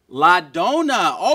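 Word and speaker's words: la donna: do you say the woman in Italian ladona ladona okay good job give her a hand guys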